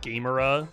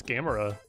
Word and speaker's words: Gamera: like made a joke because of how it's spelled. It looks like Gamera, so they edited it to have a freaking bag of Doritos and a controller. But it's Gamera.